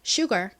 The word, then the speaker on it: sugar: 보면 Sugar이 됩니다 Sugar 한국에서는 저희가이 단어를 보통 슈가 이렇게 표기를 합니다 하지만 실제 미국식 원어 발음은 슈가가 아니라 Sugar입니다 자 이거 한번 따라해 볼까요 Sugar 좋습니다 의 의미는 뭘까요